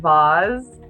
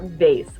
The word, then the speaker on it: vase: critical he was very excited that you said vaz oh and not and not vase i say vase and i think sometimes i